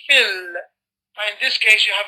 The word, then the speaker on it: في: So you no need to pronounce the alif. And this is, I'm speaking in general, Wajid, not specifically to you. And also, so in normal circumstances, you will say fil.